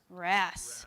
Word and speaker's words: wrasse: I don't know how to pronounce the first animal's name. WRASSE.